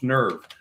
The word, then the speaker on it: N3rve: But in the meantime, nerve um if you want to be on the ground floor, go go to nerve nerve spelled with a three. So N3 RV.